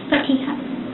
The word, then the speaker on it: Fatiha: Fatia. Fatia. Okay. Um, your family was like pronouncing it with a P, so I just want to make sure I'm pronouncing it correctly.